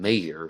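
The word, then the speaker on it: Mayer: and there's a singer out there named John Mayor who spells his name m i m a y e r and he pronounces it mayor and I remember very clearly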